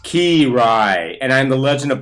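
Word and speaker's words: Kiraly: Cry. What the? Why are you here? And why are you wearing such short pants? It's pronounced Ki-Rai, and I'm the legend of volleyball past.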